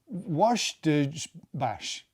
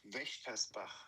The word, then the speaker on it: Wächtersbach: local club, the MBSC Washtersbach. Hang on. Vochtersbach. Vochtersbach. Patrick, how do you say it? You can say Wächtersbach.